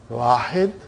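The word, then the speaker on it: واحد: The way they pronounce, it will be, they won't say Wahidun. They'll say Wahid.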